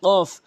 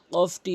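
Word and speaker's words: قاف: কফটি জিহ্বার গোড়া থেকে উচ্চারণ করতে হবে, কফ, উল, উল এভাবে উচ্চারণ করবেন।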